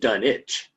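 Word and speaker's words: Dunwich: The English pronounced it dunich. Oh, I see. We Okay. Yes. And so there's our there's our competing pronunciation. Yeah. So you know uh there are other variations done it or done vitch.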